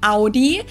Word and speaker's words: Audi: Most Americans that I know pronounce it like I just said it, Audi. Audi. In German, we say Audi. Audi. Audi.